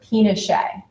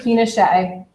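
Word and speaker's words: Pinchot: appoints a gentleman by the name of gford pet p i n o c h t well he's it's spelled for you up here as well um appoints a man by the name of gford pet uh to a leadership position within the department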